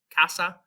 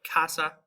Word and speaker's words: casa: The C in Spanish generally is going to, we have the hard C before A, O, or U, like the C in can. So we have words like casa or comer.